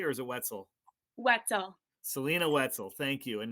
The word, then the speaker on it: Wietzel: Did I pronounce that correctly, or is it Wetzel? Wetzel.